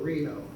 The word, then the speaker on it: Reno: likes to be called Reno and if I remember correctly in his email he said it was like the place in Nevada that's how you pronounce it not to be confused with rhino here's where he here's